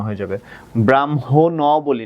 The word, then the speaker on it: ব্রাহ্মণ: ব্রাহ্মণ বলি না, ব্রাহ্মণ, তার মানে এখানে কি উচ্চারণ হচ্ছে না বাচ্চারা, খেয়াল করো, এখানে অ